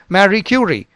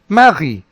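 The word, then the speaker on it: Marie: and we sayi Magi remember this is the French pronunciation in English you can well pronounce it as Mary Mary cury Mary cury but in French the is the original V it is marii Mari but again with a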